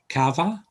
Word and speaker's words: cava: you can have a a hard uh k sound as in call uh example would be cava nice breakfast drink when